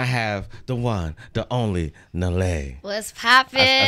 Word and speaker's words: Nelle: And I have the one, the only, Nelle.